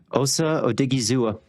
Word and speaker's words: Osa Odighizuwa: Theo, tell me how to pronounce this name again. Osa Odighizuwa.